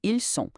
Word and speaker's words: ils sont: Já ils sont significa eles são e tem o som puro de S, sem nenhuma ligação sonora extra. Fica ils sont.